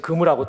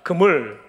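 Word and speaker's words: גמול: 바다에 치는 그물하고 똑같은 발음입니다. 그물, 한번 해봅시다. 그물.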